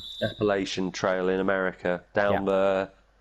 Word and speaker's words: Appalachian: going to mispronounce it the aleppoletian trail have you heard of that appalachian that one appalachian trail in america down